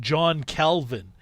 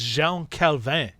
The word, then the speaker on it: Jean Calvin: of mispronouncing his name his name was not john calvin it was jean calvin he was french yeah although although he